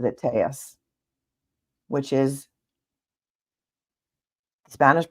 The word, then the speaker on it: Telles: pronouncing his name wrong because he in fact pronounces it tus which is Spanish pronunciation the Double L is